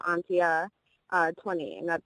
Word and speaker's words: Antje: and then my Snapchat is my actual name Atia uh 20 and that's spelled a n t j e and then